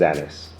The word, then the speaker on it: Anis: Actually, my name is Anis. Some people call me Anis, but you spelled it A-N-N-I-S. Actually, it's spelled A-N-I-S, so Anis. Yes, Jade, my name is Anis with a single N.